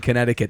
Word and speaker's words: Connecticut: I think it's that silent C in Connecticut that kind of gives it that Yeah.